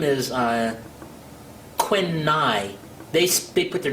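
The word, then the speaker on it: Quynh: her name is uh Quin NY they they put their names backwards you know in that culture spelled q y n h NH hi I I think it's pronounced Quin n and um so we've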